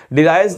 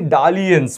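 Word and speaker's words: dalliance: word है एक डिलायंस sorry डिलायंस नहीं डालिस बोलते हैं प्रोनंसिएशन उसका डी ए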